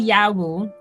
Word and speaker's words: Yawu: So you're working, your second breakthrough was with Yawu. Am I saying the name right? Yeah, well, it's actually Yawu.